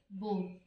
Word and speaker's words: bore: 35 में देखिए एक वर्ड है बोर, BOAR, और एक वर्ड है बोर। दोनों का प्रोनाउंसिएशन सेम है, स्पेलिंग समझो, BOAR है और BORE है, ठीक है।